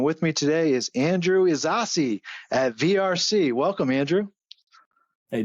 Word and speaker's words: Ysasi: name right you know the pronunciation it's almost like a sauce Gardener you know I'm a